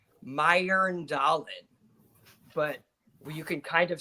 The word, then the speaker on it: Mjøndalen: So you got that J, and it makes like an IR. So like Earl. So it's like Mjøndalen. But you can kind of say it in English as like Mjøndalen, but it's kind of